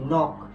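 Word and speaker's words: knock: যেমন দেখো এই যে এটার উচ্চারণ হবে কি নক এটার উচ্চারণ হবে কি নাই এটার উচ্চারণ হবে কি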